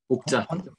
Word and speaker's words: Okja: Okja.